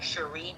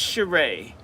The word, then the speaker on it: Cheree: it's c h e r e e like Sheree peoples um um is my email and then